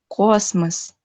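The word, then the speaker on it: космос: Jadi dibacanya gorat, gorat, dan kosmos. Kosmos, gorat. Jadi tidak gorot, tidak kosmos, tapi goret dan kosmos.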